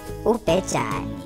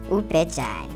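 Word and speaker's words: ubhejane: A rhino in Zulu is Upejani. Say it one more time. Upejani.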